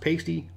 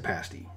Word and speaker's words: pasty: It's almost like a calzone, really, but I was told by Michigan folks it's not pronounced pasty, it's a pasty.